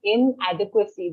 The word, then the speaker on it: inadequacy: Just one word, the pronunciation of inadequacy. There's no n sound in it. It's not inadequacy or something like that. Okay. It's inadequacy.